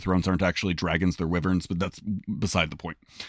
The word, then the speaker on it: wyvern: According to D&D Beyond, it is pronounced wyvern, which is fine.